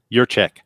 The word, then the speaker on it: Yurchak: Is it Yurchak? Yurchak. Like your check.